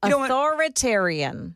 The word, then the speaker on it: authoritarian: No, you you kind of skip over the the I sound in the middle. Authoritarian.